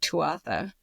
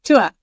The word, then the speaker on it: Tuatha: 3 words that describe the Chronicles of Tuatha. Sorry, I said it wrong. Tuatha.